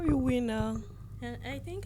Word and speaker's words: Winner: call me call you Winer I think I call you vinner I don't know why the Swedish pronunciation I guess you're turning Swedish yeah